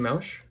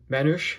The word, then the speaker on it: Manush: Then we also have Heine Mausch, or Manush, I should say is his last name. I mispronounced that one pretty badly.